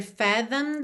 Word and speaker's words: fathomed: No caso aqui, como ele está no passado, a gente tem um ED, o E não é pronunciado e o D já está ligando no this, na verdade.